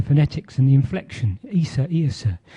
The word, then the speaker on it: Iosa: and the inflection, Isa, Iosa. So when they came to write down the Gaelic pronunciation of Isa, they put an O in, Iosa.